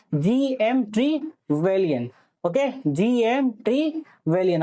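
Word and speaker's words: Trevelyan: और हेरोडोटस, जिसको हम फादर ऑफ हिस्ट्री बोलते हैं, इवन जीएम ट्रिलियन, यही हम नाम है, जीएम ट्रिलियन, जीएम ट्रीवेलियन, ठीक है, जीएम ट्रीवेलियन, ओके, जीएम ट्रीवेलियन।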